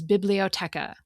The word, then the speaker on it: biblioteca: The same word in Spanish is biblioteca. Each syllable in that word gets about the same amount of emphasis.